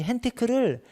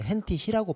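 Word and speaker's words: Hentig: 이 헨티크를 헨티크라고도 하고 헨티히라고도 합니다. 그 나라에서, 이게 이탈리아 학자인데 이탈리아에서 이걸 헨티히라고 발음하나 봐요.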